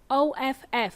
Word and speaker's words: off: So the word off, O-F-F, has double F and it sounds like off, like a soft F, not of. not of, which is spelled with a single F, okay?